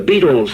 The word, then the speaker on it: Beatles: the be fan club The Beetles sound like insect life but it's spelled b e a t beat and these four boys